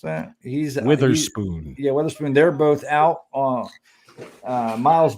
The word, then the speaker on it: Witherspoon: How do you pronounce that? He's Witherspoon.